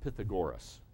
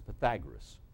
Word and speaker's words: Pythagoras: BC by Pythagoras now it looks like you pronounce it Pythagoras but it's Pythagoras and here's what was said if you take